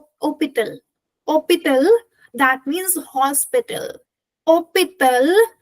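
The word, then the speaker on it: hôpital: Opal is hospital in English and here h is silent. And if you notice opal is me in opal I have not written S because in hospital as in English we have S but when it we talk about French there is no S and the pronunciation is starting from O and ending with L. H is going to be silent.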